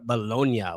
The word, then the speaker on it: Bologna: here because we are going over Bolognia, which is spelled for us Bologna.